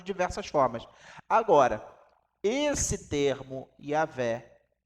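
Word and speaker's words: Yahweh: Mas a pronúncia original, mais provavelmente, era Yahvé ou Yahvé.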